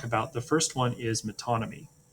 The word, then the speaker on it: metonymy: The first one is metonymy. It's pronounced metonymy.